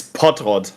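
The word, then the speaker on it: Pottrott: is in German yeah in German it's pot Rod sounds like pot yeah cuz I feel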